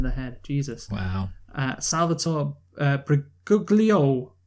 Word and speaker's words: Briguglio: Salvatore Briguglio. Wait, is it like it sounds like Daniel Brigoli, the remember Cash Me Outside? Yeah, but it's not spelled like that.